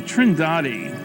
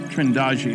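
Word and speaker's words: Trindade: And here's a sequence from Trindadi. Trindagi, I'm told it's pronounced, 600 miles east of the coast of Brazil.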